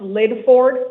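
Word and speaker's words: Lydford: L Y D F O R D. It's pronounced Lid Ford.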